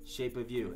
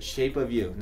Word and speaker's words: Shape of You: Geralmente, como a gente se junta, Shape of You. Não é Shape of You, é Shape of You. Como se fosse uma palavra só. Uma palavra só. Porque alguns alunos meus já falaram Shape of You. Tá certo essa pronúncia? Of You? It's more like of, like a vista, som de V. Of You, Shape of You. Ok. Shape of You. Então a palavra of seria com dois Fs.